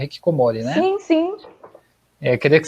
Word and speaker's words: hikikomori: Eu pronunciei correto? É hikikomori, né?